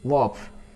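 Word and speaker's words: Lwoff: Okay, next point में देखिए ए वॉफ, एल यहाँ पे साइलेंट है।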